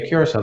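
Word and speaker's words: Curaçao: was a trainer, believe it or not, from Curacao. Am I pronouncing that? Yeah, Curacao.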